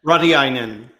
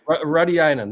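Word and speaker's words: Rautiainen: How do you pronounce that? Radiainen. Radiainen. There you go.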